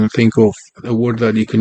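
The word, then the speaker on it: ئەو: We have O, A-W. It's pronounced this way. O, which means he or she.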